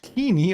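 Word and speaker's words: Koine: Greek Orthodox countries now use the coin dialect pronounced kini.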